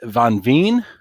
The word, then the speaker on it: van Veen: van Veen, welcome. Almost. Miriam. Thank you, van Veen. Van Veen. If it's Dutch, let me pronounce it.